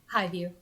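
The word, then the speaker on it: Hivju: We have Christopher Highview. Highview. Highview. Is that That's is how you that- say it? The J is silent.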